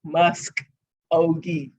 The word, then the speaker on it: Muskogee: do you say it muskogee s-k-o-g-e-e musk ogie that's what i was